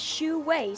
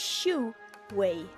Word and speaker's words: Xu Wei: that this is the the Chinese pronunciation of pronouncing yet pronounce and pronunciation help of the video his name this guy's name is xu wei so i actually did write believe it or not it's xu wei as far as I